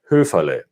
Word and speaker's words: Höferle: So my last name in German sounds like this, Höferle.